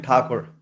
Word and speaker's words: Thakur: And Mahesh, am I pronouncing your last name correctly? Mahesh M. Thakur.